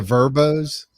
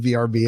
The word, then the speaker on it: Vrbo: the verbos? Well, we yes, usually- exactly. By the way, Yeah. I was 54 years. I was years old today when I learned how to say verbo instead of VRBO.